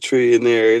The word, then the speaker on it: Trillionair: We just pronouncing it trillionaire. It ain't even spelled the same thing.